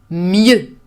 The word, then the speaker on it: mieux: The other one is mieux. Mieux is a little bit difficult to pronounce because you have this closed E.